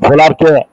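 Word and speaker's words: Wöhler: তো এই 1828 এই সময়টাতে ফ্রেডরিক, পুরা নাম হলো ফ্রেডরিক ভোলার, ডাব্লিউ দিয়ে উচ্চারণ করলে আমরা এটা উচ্চারণ করি বাংলায় ভোলার। ভোলার, উলার না, উলার বা ভোলার যেটা উচ্চারণ করে, German chemist, German medical student.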